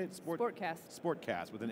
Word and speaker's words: SportXast: SportXast.